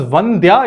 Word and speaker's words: Vandya: So he asked, is it Vandya or Vandya? And she confirmed, no, it is the Mahaprana sound.